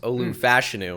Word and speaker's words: Olu Fashanu: We're learning it's pronounced Olu Fashanu.